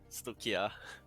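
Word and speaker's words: Stoicheia: I pretty much play Stoichea. Stoichea, yeah. I'm a driver. He always reminds me like it's pronounced like some Greek word.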